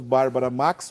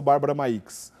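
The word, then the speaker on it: Bárbara Maix: a questão de olha não se pronuncia o i no nome dela e o nosso amigo Francisco Wagner tá dizendo não tem que pronunciar o i mesmo então olha para agradar gregos e troianos Bárbara Max ou Bárbara Max não importa é a mesma Beata é de origem austríaca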